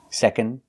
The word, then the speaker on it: second: closed er first second we don't really pronounce the d not second second second third again we